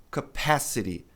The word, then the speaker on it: capacity: A sílaba forte aqui é é o pa, né? Fala pass capacity.